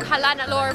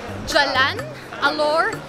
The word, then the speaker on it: Jalan Alor: yeah I kept eating halal or but apparently in Malaysia they do pronounce the G so it's Jalan Alor it is the most